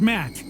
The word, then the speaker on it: Matt: not an inch less the name's Matt the second T is silent okay Matt I'm gonna